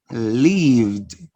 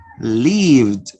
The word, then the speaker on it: lived: Lived. Lived. It's not lived, right? It's lived. So you pronounce the sound d.